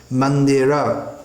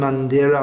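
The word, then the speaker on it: मन्दिर: - speaking Hindi but when it comes in Sanskrit we can't apply the rules of Hindi so Srinagar attend Mandira Marjan are dau not Mandir Marg another actually is very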